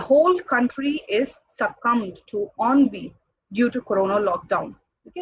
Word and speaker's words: ennui: The next one is, this word is pronounced as ennui.